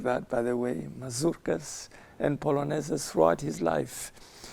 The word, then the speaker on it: mazurkas: They should be pronounced like that, by the way, mazurkas and polonaises throughout his life.